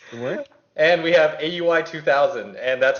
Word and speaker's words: Aui_2000: And we have AUI 2000, and that's how it's pronounced, and nobody's going to argue with me.